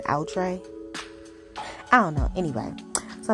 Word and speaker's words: outré: way to say it like how people say utre and outre i don't know anyway